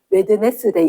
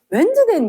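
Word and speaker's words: Wednesday: 어데이 어 선님뭐 그게 안 외워야돼서 어릴 때 웨드네스데이 이렇게 외웠어. 아니 이게 발음 이상해. 미국들 바본 줄 알았어. 웬즈데는 무슨 왠지 웨드네스데이구만.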